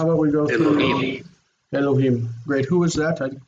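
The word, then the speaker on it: אֱלֹהִים: So Elohim, the accent's on the end.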